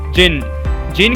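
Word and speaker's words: Djinn: presently देर के curve the जिन-जिन के अंदर यहां पर डी साइलेंट है वहां से इन चार्ज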